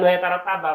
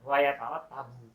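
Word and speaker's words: وَيَتَرَتَّبُ: Jadi bukan wa yatarattaba bacanya, wa yatarattabu.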